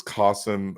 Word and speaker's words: Qasim: It's Qasim. It rhymes with awesome. And it's Kasim.